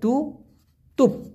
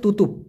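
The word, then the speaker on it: tutup: এখন বন্ধ মানে মালয়েশিয়ান ভাষায় আমরা জানি তুতুপ বলে, টু তুপ, উচ্চারণটা হচ্ছে তুতুপ।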